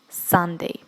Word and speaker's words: Sunday: Вот это U будет читаться как А. Поэтому будет Sunday.